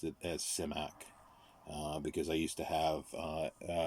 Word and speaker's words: Simak: it seems to be invariably um said as cymac he pronounced it as semiac because i used to have recorded interviews so